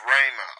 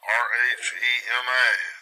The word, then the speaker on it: Rhema: Now this is 4487, it's Rhema, R-H-E-M-A, this word.